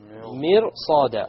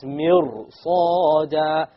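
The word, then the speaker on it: مرصادا: Inna jahannama kanat mirsada. Okay, now look at this ra over here. This ra is silent, and before it is a kasra.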